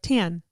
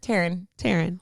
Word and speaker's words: Taryn: There's definitely an R in there. Taryn. Well, and I always like say it like Taryn. Like I try to like say it clearly. Taryn. Because I always get Karen or Aaron, but Tan.